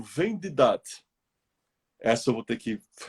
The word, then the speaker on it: Vendidad: V, E de elefante, N de navio, D de dado, I de isso, D de dado, A de amor, D de dado. Vendidat. Vendidat.